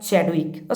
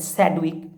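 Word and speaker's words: Chadwick: Proton को discover किया Goldstein, और न्यूट्रॉन को डिस्कवर किया चैडविक, sometimes it pronounced as सैडविक, तो चैडविक।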